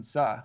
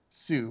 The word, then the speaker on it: Suh: And then from our sleepers, I mentioned Tyler McCumber, who had a great tournament, and Justin Suh, who I think I was pronouncing wrong as Sue, but it's Yeah, Justin no, I Suh.